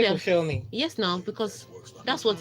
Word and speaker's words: Koscielny: It's Koscielny, isn't it? You sure? They can't call it self. They struggle. Even the French, that's how they call it. They just don't pronounce the L.